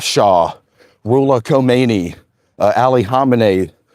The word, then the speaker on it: Khamenei: Per Per Per Per Sesquian, I believe is how you pronounce his name. And Ayatollah Khamenei. Khamenei.